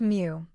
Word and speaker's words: mu: The Greek letter mu, pronounced mu, represents the population mean.